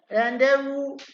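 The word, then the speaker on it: rendezvous: Okay, रेंडेवू हमने कहा था, इसमें इस तरह से प्रोनाउंसिएट करना है इसको आपको।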